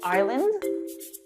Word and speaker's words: island: Sometimes letters are silent, like the S in island.